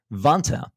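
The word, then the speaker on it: Vanta: real time and money vant rhymes with Santa automates up to 90%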